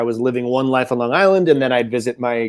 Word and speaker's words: Long Island: Long Island. Yeah, we pronounced the G there. The Strong Island, Long Island. Yeah, I had to lose that one for being a performer.